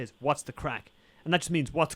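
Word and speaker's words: craic: Or you can use it to describe somebody, but we don't spell it C-R-A-C-K. Crack is in Ireland. C-R-A-C-K. C-R-A-C-K is not how crack. C-R-A-C-Gray? It's not how we spell Irish crack. Irish crack is spelled C-R-A-I-C.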